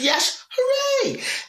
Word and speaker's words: Yashere: got this thing now i go it's yesterday i think yes hooray and people you know